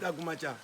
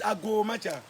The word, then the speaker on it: Agomacha: The word is allow me to flow, Ago. The way we knock, Ago. Oh, okay. Agomacha, or let me flow, that's the meaning.